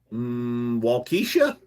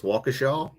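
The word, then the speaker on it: Wausau: in one of them I was like Walesa turns out I guess it's walaw look like Walesa to me they knew I was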